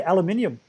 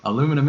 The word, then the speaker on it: aluminium: another debate as yeah how did you pronounce aluminum uh we say aluminium I'm aluminum it I'm not gonna try oh you guys miss the letter there's an iron there that you guys think don't pronounce oh that is true